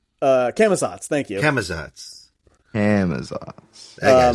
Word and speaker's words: Camazotz: out of my mind and I'm having trouble pronouncing it. The Bat God. Oh. Is that Aklazats? Camazotz, thank you.